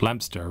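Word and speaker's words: Leominster: shitty small town called Lemp stir which Leo Minster is how you spell that but they have a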